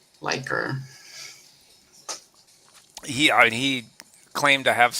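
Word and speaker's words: Likert: you know, liquor, like lyer type indicators. Yeah. Yeah. He must have Oh, but that's that's everyone. Everyone either says liquor like in alcohol liquor or liquor or liker.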